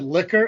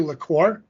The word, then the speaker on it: liqueur: So first off, every time you said liquor, it's actually liqueur. It's spelled liquor on here. It's pronounced liqueur.